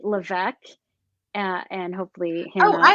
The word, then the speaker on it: Levesque: Levesque, and hopefully Oh, Hannah I has said that your spelled last out name somewhere. wrong. It's okay. It's you. It's French Canadian, and the S is silent, but Levesque works too.